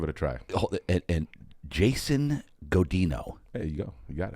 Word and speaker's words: Godinho: And Jason Godinho. There you go. You got it. I nailed it. You nailed it. I get people saying Godinho. Oh, God. Godinho. There's no tilde over the N.